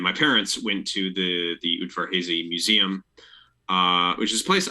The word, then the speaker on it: Udvar-Hazy: I went and looked up like how do you pronounce it. It's Udvar-Hazy, and it's Udvar-Hazy Air and Space Museum.